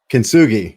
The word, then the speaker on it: Kintsugi: Kintsugi, yeah.